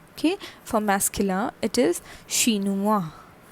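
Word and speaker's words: chinois: o i s okay for masculine it is shinuwa shinua c-h-i-n-o-i-s okay for femina it is shinuas shinuas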